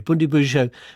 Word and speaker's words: Bundibugyo: And Bundibugyo, my apologies for pronouncing it incorrectly earlier, Bundibugyo, so far, what impact is that having on the patients who have it?